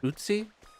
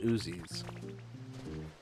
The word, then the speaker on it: Uzi: Utsi? There's a gun called Uzis. I didn't Uzi. Like slime? I wonder if that's why I've been... It's pronounced like the gun, yes.